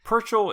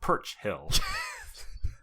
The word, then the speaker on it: Purchell: Purchell is pronounced the way our British friends say Churchill. He's super nice and never corrects when someone pronounces it Perch Hill.